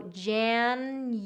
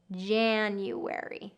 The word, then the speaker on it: January: So January, January. So first syllable stress on this one, January.